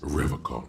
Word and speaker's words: Revachol: He pronounces Revacon Oh, with a the K.